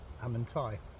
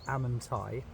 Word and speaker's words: Amenti: going to say it I'm going to pronounce it like that because otherwise Paul will tell me off so what you find here is yours and is part of your Ascension Journey the halls of amenti pronounced amanai are a vast Cosmic